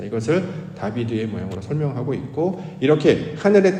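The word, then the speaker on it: דָּוִד: 다윗의 시라고 하는 것은 다윗이라는 인물이 기록한 글이기도 합니다만 중요한 의미는 다윗의 모양이 어떠한지를 우리가 살펴보시면 다윗은 히브리어로 다비드라고 발음을 합니다.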